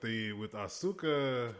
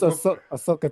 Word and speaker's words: Ahsoka: I feel like with Asuka being in, like, as far as this character I like the way you pronounce her name. It's Ahsoka Tano.